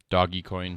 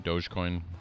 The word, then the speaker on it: Dogecoin: ethereum dark coin doggy coin dogecoin however you want to pronounce it um burstcoin all of